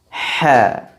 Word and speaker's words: ح: Kenapa huruf H disifati dengan sifat ismat? Karena posisi makhraj huruf H jauh dari dua bibir, yakni dari tenggorokan, tepatnya di bagian tengah. Karena jauh, maka dia akan melewati beberapa makhraj dulu sebelum keluar. Dan ini mengakibatkan dia susah diucapkan.